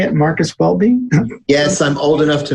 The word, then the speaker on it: Marcus Welby: marcus welby is that how you say it marcus welby yes i'm old enough to know it's marcus